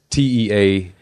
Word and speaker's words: Teague: a small town called Tig. Tig? Tig. It's spelled it's Teague, pronounced. Like some sort of Tig. weird It's Irish, like pig.